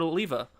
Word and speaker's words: Alleva: Robert Oliva. Is that just that's how it's pronounced, right?